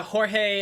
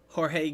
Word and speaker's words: Jorge: don't look at me Jorge gu I'm like Elementary level Spanish okay because I know that they the that in Mexico they pronounce their J's uh as an H like like H um yeah also I